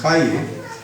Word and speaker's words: Calle: I reached there, and finally the driver, whom I asked me to take me to Kale Manila, because I didn't know it used to be pronounced Kaye.